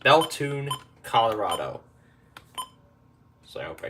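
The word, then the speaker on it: Bethune: out of belon Colorado betun Colorado that's actually how it's pronounced belun Colorado so I hope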